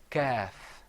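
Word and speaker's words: كاف: Whereas the kaf, you open your mouth up.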